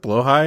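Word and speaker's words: Blåhaj: plushy this was going to be really the blo high yeah the is that how you pronounce it blo high that is how you pronounce it yeah he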